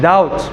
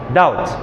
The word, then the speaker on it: doubt: the secret oh yeah doubt H yes so of course the B is silent because the teacher has said doubt and now he wrote